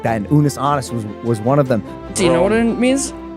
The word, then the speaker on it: Unus Annus: It is called Unus Annus. Did I pronounce that correctly? No. How does it pronounced? Unus Annus.